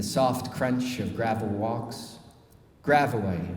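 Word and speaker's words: Gravois: crunch of gravel walks gravaway rhymes with illinois at the ragged edge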